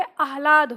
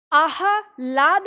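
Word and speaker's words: आह्लाद: को मिल जाएगा तो ये अलाद होता है आह लाद नहीं पढ़ेंगे है ना पूरा ह नहीं पढ़ेंगे अलाद ह जल्दी से बोलेगा और ये है अट्टालिका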